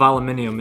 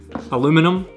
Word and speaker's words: aluminium: aluminium it's like machined aluminium aluminum aluminium i want to see aluminium because i'm scottish and i know that you guys spell it differently in america so it's aluminum in america but it's machined from